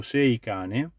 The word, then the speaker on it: Seicane: descrizione nome e caratteristiche io lo pronuncio in italiano poi la pronuncia inglese La vedrete voi è scritto sei cane il box ha tutto